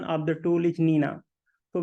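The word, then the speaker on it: GNINA: see it is written G Nina but the pronunciation of the tool is Nina so we do not pronounce it g Nina it is just Nina so Nina is derived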